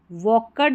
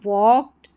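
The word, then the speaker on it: walked: एज शी वॉक्ड वकर्ड नहीं पढ़ना है। वॉक्ड a long along the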